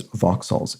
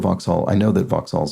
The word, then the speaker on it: Vauxhall: I know that Vauxhalls are, which is a British car make, and looks like it should be pronounced Vauxhall, but it's not. It's Vauxhall.